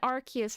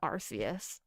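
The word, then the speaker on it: Arceus: I think he pronounces it Arus.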